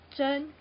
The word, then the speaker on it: 珍: So pronounce Zhen. Like, for example, pearl, 珍珠. Yeah, that Zhen.